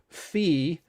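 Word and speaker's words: φ: le the greek letter fee yes that is the pronunciation for this letter it happens to be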